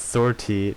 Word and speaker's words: sortie: a ship during each sortie sortie yes sortie not sort i sortie I said it right guys please be proud